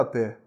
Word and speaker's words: até: Até são 2 sílabas. Por quê? Porque eu tenho 2 vogais. Até. Vogal A, vogal E. Então, eu conto o número de sílabas pelo número de vogais que eu percebo, né? Então, eu tenho 2 sílabas. E a palavra apé, a sílaba tônica é a última.